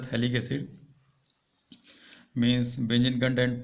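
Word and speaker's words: phthalic acid: P लिखा गया है लेकिन P वहाँ पे साइलेंट रहता है, नाम होता है थैलिक एसिड।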